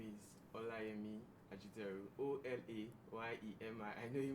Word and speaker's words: Olayemi: you okay yes once again my name is olami vegetarian o-l-a-y-e-m-i I know you might find it hard to pronounce so hola I mean um I am